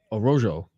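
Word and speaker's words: Araújo: By the way, they pronounce the J in Portuguese. Yeah, I can't keep up with this shit. Araujo.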